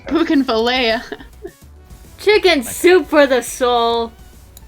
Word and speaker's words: Bougainvillea: Like how- Bougainvillea.